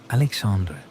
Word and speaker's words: Alexandre: The Portuguese language gave the name its own particular sound, softer than Spanish, more nasal, with the final E pronounced as a schwa, creating a gentle ending. A Portuguese, Alexandre, might grow up to